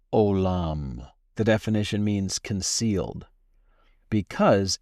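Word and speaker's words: עולם: The pronunciation in Hebrew is olam, olam.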